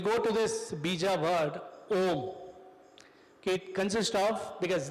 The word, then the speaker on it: Om: So we'll go to this bija word, Om. Okay, it consists of, because this is the source of the entire paradigm of Vedic scriptures. It is made up of 3 syllables. A, U, Ma.